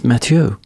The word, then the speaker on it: Mathieu: It's all you, Matthew, from And I learned before we sat down, it's not actually Matthew. It's a French name. It's Matio.